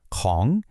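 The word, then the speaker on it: ของ: And here it is, "Kong". This is your master key for ownership. Pronunciation is super easy. Just think of the Kong in King Kong.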